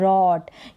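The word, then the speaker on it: wrote: है लिखना और इसकी सेकंड फॉर्म होती है रॉट क्या होती है रॉट और यहां पर डब्लू जो है वो साइलेंट रहता है याद रखें यह वर्ब भी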